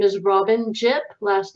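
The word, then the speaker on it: Jipp: pages full of thoughts my name is robin jip last name is spelled j-i-p-p uh go ahead and check it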